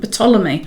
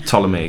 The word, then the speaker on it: Ptolemy: to say that the the p is silent but a lot of people these days are pronouncing the p so they would say ptolemy ptolemy and i've had greek